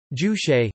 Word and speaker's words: Juche: Juche, Korean, Juche Zuti lit. Subject, Korean pronunciation, toot e, usually left untranslated or translated